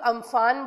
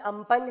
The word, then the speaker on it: Amphan: नाउ इसको commonly लोग अम्फान बोल रहे हैं, बट इसका एक्चुअल प्रोनाउंसिएशन अम्पन है, जो कि थाईलैंड ने दिया था 2004 में.